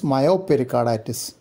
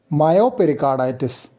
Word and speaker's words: Myopericarditis: Myopericarditis. Pericarditis with known or clinically suspected concomitant myocardial involvement. Perimyocarditis. Predominant myocarditis with pericardial involvement. So the stress is on the second part of the name.